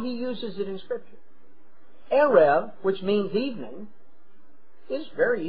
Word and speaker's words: erev: Now, to understand something, throughout the Old Testament, the word that is translated evening is the Hebrew word erev. You would spell it out in English, E-R-E-V, erev.